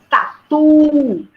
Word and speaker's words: tatu: Ó, também 2. Tatu. A sílaba mais forte, a última.